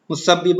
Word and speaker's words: مسبب: خلوص والے، ٹھیک ہے۔ لفظ مسبب کا درست تلفظ ہے مسبب الاسباب کہتے ہیں نا، مسبب۔ جوش کی رباعی میں